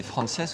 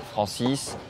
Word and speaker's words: Frances: Alors, c'est Frances ou Francis ? Parce que j'ai entendu les commentateurs dire Francis. Moi, je dirais Frances. Ah ouais ? Frances. Mais c'est écrit Frances, non ? Ouais, mais prononcé à l'américaine, je crois qu'on est plutôt sur du Francis que du Frances.